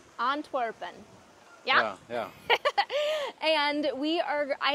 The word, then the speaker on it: Antwerpen: We are here in Antwerp, Belgium, which is, how do you pronounce it in Dutch? Antwerpen. Antwerpen.